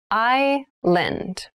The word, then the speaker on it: island: many rainforests thailand has many rainforests island island i lend and island is a portion of land or